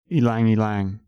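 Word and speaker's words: ylang-ylang: one that I've been using recently is called elang elang it's spelled y l a n g and this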